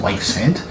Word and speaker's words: Yves Head: And then there's Wives Head, which is spelled YVES Head. So if that's Welsh or what, but apparently it's pronounced Wife's Head.